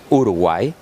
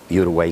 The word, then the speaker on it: Uruguay: Yes, well, Uruguay, in our Spanish language, we pronounce Uruguay, but of course, Uruguay too.